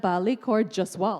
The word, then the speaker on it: Balli Kaur Jaswal: was a thrill in just hearing Reese Witherspoon pronounce my name correctly, which she did so well. She went Balli, Kaur, Jaswal.